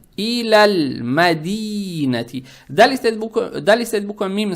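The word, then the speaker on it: إلى المدينة: Теперь, когда букву лам с сукуном произносим, язык тут же не надо убирать, чтобы не было иляля мадинати. Не иляля, надо читать иляль мадинати.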